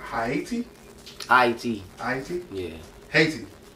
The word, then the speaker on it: Haiti: But the first thing is, you said Haiti? Haiti? Yeah. Haiti? It's Haiti, yeah. Haiti. Why'd you say it like that? That's what the indigenous people called it.